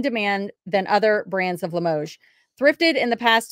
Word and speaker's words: Limoges: And you guys are all cheering for me because I said Limoges right, correct?